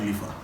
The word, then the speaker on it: Lifa: Lifa is LIFA, just in case, because I know some of you call me Lifa with an E. It's LIFA. Lifa.